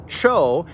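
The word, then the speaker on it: ĉo: The letter cho is a CH sound. Ch, as in church.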